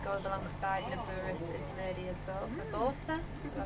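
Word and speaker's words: Urbosa: The champion that goes alongside Nibiru's is Lady Abosa. Did I pronounce that right?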